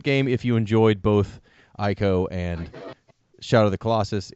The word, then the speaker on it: Ico: I loved Ico, or Eco, I think it's pronounced Ico, and Shadow of the Colossus.